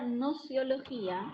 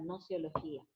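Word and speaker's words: gnoseología: ¿Se acuerdan esa palabrita que les dije que se escribe con G al principio pero que no suena? Bueno, la palabra nociología, anoten esto, deriva de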